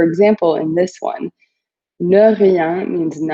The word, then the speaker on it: rien: It's pronounced rien, and ne rien means nothing.